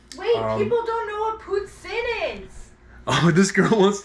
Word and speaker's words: poutine: Pronounce poutine.